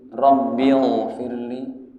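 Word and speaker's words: رب اغفر لي: gimana boleh ada rbigfirli rabbigfirli rabbigfirli Ayo bareng-bareng rabbigfirli pakai Gin ya rabbigfirli rbfirli rabbigfirlibigfirli jangan pakai ha rbigfirli rbigfirli apa rbigfirli salah jangan pakai g rbigfirli rbigfirli apalagi pakai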